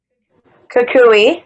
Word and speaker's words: Kukui: Kukui.